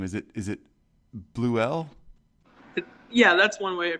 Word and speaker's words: Bleuel: Is it Bleuel? Yeah, that's one way to pronounce it, or Bleuel.